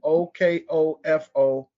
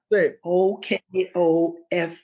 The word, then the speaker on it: Okofo: IMAHKUS, that's IMAHKÜS, NJINGA, Okofo, OKOFO, One Africa. OKOFU. OFOKU. I apologize. And how do you pronounce that, Mama?